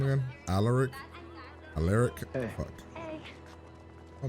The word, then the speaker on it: Alaric: Alaric belongs to a very dead great-grandfather I'll never be able to thank enough. You'll probably want to pronounce it Alaric, but it's Alaric, okay?